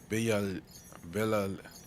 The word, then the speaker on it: Villa: Villa. The two L's is pronounced like Y, right?